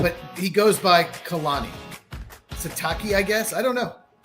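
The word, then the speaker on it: Sitake: Uh, Satake. His real name is Kilawa Kamalani. Oh, but he goes by Khalani Satakei, I guess.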